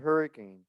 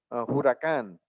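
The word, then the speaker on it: Huracán: We have cars like the Audi R8 and the Lamborghini Hurricane, Huracan, if you want to pronounce it correctly.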